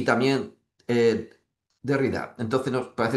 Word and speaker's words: Derrida: Levinas y también eh Derrida. Entonces, no parece no tiene acento en la Entonces de Ridda.